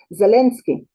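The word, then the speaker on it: Zelensky: Zalinski.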